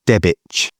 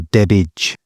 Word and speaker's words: Debach: And this weekend just gone, we were at it's pronounced Debach or Debitch but the pronoun the spelling is d a b a c h which is down in